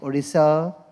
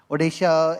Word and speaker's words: Odisha: world and I think Odisa uh I'm sorry am I mispronouncing it is it Odisha right Odisha in in all its